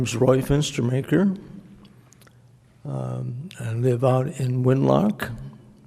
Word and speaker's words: Fenstermaker: fence to meijer died pronouncing maker fenstermaker fe NS t er ma ke r would